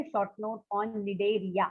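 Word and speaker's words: Cnidaria: अगर एग्जाम में क्वेश्चन आता है, right a short note on निडेरिया, C silent है वहां पे, right a short note on निडेरिया.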